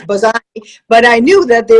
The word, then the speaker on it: Bazzani: street and window shopping, Colleen Buzina. That's not obviously phonetically it's Bazzani, but I knew that